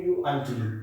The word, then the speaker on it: quite: so look at this this is quite quite it is pronounced as quite quite amazed here completely